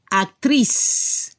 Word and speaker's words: actrice: al final, acteur, y al femenino se debe escuchar la S al final, actrice. Y no se escucha la E final.